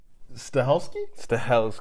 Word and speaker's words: Stahelski: Stahelski.